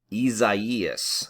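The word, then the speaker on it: Isaias: say it is actually the correct way to say it is very similar to what you see on the website uh from the national hurricane center when they have the pronunciation of each of these names but it is actually isaiah's is how you say it that's exactly how she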